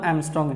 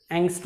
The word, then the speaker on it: Angstrom: Okay, so first we will concentrate on 1 Armstrong unit. So unit name 1 Armstrong असं लिहितो मी, किंवा यालाच 1 Armstrong unit असं म्हटलं जातं. Okay, so just spelling Angstrom, ANG, नॉट 1 Angstrom.